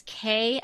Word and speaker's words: Ke: sort of thing and it's K and Molly uh but K is spelled ke so K and Molly